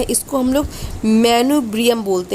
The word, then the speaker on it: manubrium: ये जो ऊपर का भाग होता है इसको हम लोग मैनुब्रियम बोलते हैं। क्या बोलते हैं, मैनुब्रियम बोलते हैं।